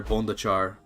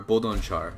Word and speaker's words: Bodonchar: The Mongols continue under Bondachar, or Bodonchar. Sorry, I gotta say his name right.